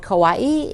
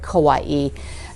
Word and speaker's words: kawaii: There is a style of products, images, just sort of culture called kawaii in Japanese. I'm probably not pronouncing that right, but it's kind of like Hawaii, but kawaii.